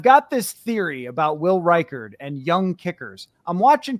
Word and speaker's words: Reichard: Yeah, Reichard is how it's pronounced.